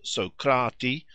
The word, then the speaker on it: Socrates: oh don't be naughty it is true that the names were pronounced socrati aspi that is according to accent and not according to quantity but I suppose it is scarcely now to be doubted that they were so sounded in ancient times to me it